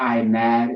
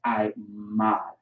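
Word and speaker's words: עמד: right i i mod it's not i mad is i mod okay you have the i the ma and the duh mud i'm my i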